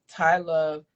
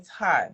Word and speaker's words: Tiye Love: Tai Love. That's how you say her name. Ty, right?